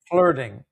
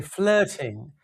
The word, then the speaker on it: flirting: In England, they'll say flirting. They pronounce the R softly. Flirt. And we say flirt in Los Angeles. This is a Los Angeles accent. But flirting, we change the T to a D sound.